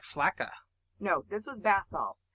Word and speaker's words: Flakka: It's spelled Falkka. It's Flakka, like Waka Flocka Flame.